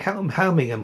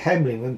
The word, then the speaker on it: Helmingham: There's also a BR version called Helmingham Hall, or somebody pronounce it Hemlingham Hall, or it's a bit of a tongue twister really.